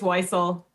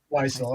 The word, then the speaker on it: Weissel: which is chopper charlie charlie weasel and wisel how do you say his name kayla it's weissel weisel okay yeah charlie weissel